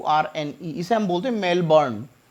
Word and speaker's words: Melbourne: आर एन इस संबोधन मेलबोर्न इट्स not mail बांधे मेल बर्नियर साइलेंट रहता है यहां पर मेलबर्न मेलबर्न